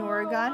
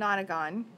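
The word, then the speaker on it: nonagon: has nine sighs and I'm sorry I keep pronouncing it wrong it's an otter gone if it has nine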